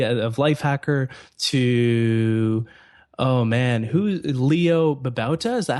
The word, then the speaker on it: Leo Babauta: And it's been covered by everyone from Gina Trapani of Lifehacker to, oh man, Leo Babauta?